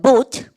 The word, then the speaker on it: bought: 2번 우리 반 buy라는 동사의 과거형으로 이거 GH 발음 나지 않아요. 보그트 아니에요. 이거 보겠도. 그래서 buy라는 동사 사다 동사의 3단 변화라는 거 우리 나중에 배우지만 샀다 동사 발음해볼까요? buy 그죠? 발음해볼까요? bought GH 발음 나지 않죠?